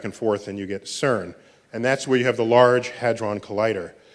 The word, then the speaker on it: CERN: So CERN is how you pronounce the word, which I think in